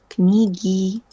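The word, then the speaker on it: книги: Tapi kan G nggak bisa ketemu sama ei. Maka dari itu jadinya knigi. Knigi.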